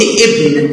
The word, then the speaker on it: ابن: طيب انا لما نطقت وقلت ابن، لكن ابن دي لو جت في وسط الكلام انا الالف دي مش هنطقها، وهنشوف دي في الامثله مع الف الوصل بعد كده.